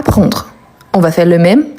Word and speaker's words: prend: identique il elle on prend pas de s à la fin et on finit avec le D qu'on ne le prononce pas nous prénom pas des